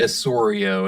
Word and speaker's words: Osorio: Yeah, Lee Osorio, and it's spelled Osorio, his last name.